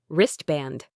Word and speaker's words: wristband: Wristband. The T is often silent.